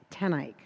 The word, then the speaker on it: TenEyck: your name save my life most people cannot pronounce my last name it's tenik tenik tanik got it meant to ask you before